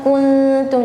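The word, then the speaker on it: كُنْتُمْ: Jadi ko bukan ko tapi ku. Jadi tadi terdengar dhammahnya kurang sempurna. Jadi makanya gunnahnya pun terdengar ya tidak ada rasa gunnahnya ya. Ku harusnya kuntum.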